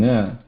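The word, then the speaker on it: ङ: But in nga, the air will come out from both the sides. Okay. Both air and mouth and nose. Nga. So it is like pronouncing ga, but the air also passes out of nose.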